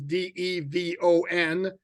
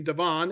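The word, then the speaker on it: De'Von: Yeah, and for those not aware, when he first came into the NFL, his first name was Devon, and then he told us no, it's actually Devon, and it's DE''V''ON.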